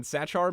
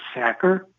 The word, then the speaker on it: Sachar: awesome so you have chosen holes by Louis sacker oh is that how you say his last name I've been saying Sachar my whole life so here's the thing I